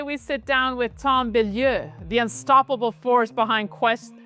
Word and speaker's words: Bilyeu: I couldn't wait to speak with Tom Bilyeu. How's that pronunciation for you, Tom?